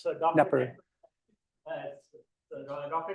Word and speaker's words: Knepper: Is the K silent in your name? It is silent, yes. So, Dr. Knepper. Dr. Knepper comes to us from a local company that does agricultural robotics called Tortuga AgTech.